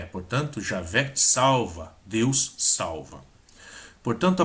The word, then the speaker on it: Javé: Portanto, a primeira vogal não pode ser O de G-O, ou não pode ser o E de G, mas o A de Já. Este A é no sistema Massoreta uma vogal forte, a diferença do A de Adonai.